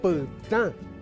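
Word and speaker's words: pytã: En cambio esto se lee pta porque tiene una vocal nasal, la a, pta.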